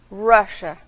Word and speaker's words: Russia: Rússia, em inglês escrito é a mesma coisa, mas a pronúncia é diferente. Russia. Começa com R, Russia.